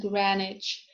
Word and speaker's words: Greenwich: answer uh sword who hero it is not pronounced when it is followed by ah as in wrist right wrong and greenwich and norwich so practice makes perfect let's do